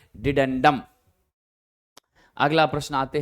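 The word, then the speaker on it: dedendum: हो जाएगा ध्यान रखिएगा आपका डेंडम यानी डिडेंडम एक्चुअल में इसका डिडेंडम ही उच्चारण होगा अंग्रेजी में यहां थोड़ा मिस हो गया है ठीक है ना हिंदी का जो डिडेंडम है वो ज्यादा सही है तो आप ध्यान रखिएगा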